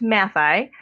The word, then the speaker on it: Matthaei: Uh tell us a little bit about the the Matai collection. Am I saying that right? It's pronounced Mati.